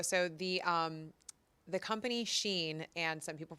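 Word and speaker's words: Shein: Bam I know so the um the company Sheen and some people pronounce it Sheen whatever side of the camp you fall on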